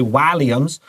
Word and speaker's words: Walliams: The Midnight Gang, written by David Walliams. Remember, you can also say Walliams.